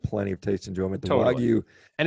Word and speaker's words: Wagyu: The Wagyu, how do you pronounce it? Wagyu.